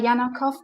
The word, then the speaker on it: Janakow: Jeanette house yeah my name is Jana Jana cough as Germans would say but you can pronounce it usually in oh hey however